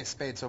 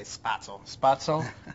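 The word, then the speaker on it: Spätzle: do you say it I say spadeso but I think it's supposed to say spato and goulash so what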